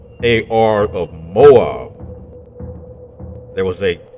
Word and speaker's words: Ar: moabites they had a city a city named ar and this city is mentioned in scripture in numbers chapter 21 verse 15. this is what we find the more by city ar and it is pronounced ar of moab there was a city of the